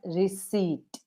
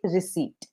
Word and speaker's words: receipt: not rece this is receipt receip H yes p is silent I always pronounce rece ma'am rece this would be receipt receipt okay okay the